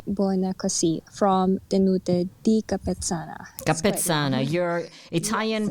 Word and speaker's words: Capezzana: Capezzana. Your Italian pronunciation is excellent.